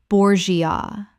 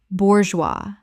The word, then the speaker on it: bourgeois: anachronism anachronism Word 100 bourgeois Common mispronunciation borgia Correct pronunciation bourgeois Two syllables. The G makes a zut sound and the S is completely silent.